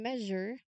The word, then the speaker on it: measure: In measure, the stress is on the first syllable, me.